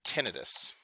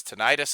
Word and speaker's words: tinnitus: hearing loss is through tinnitus okay some teachers pronounces tinnitus I learned it today this so you can do it tomato tomahto tinnitus is the definition of when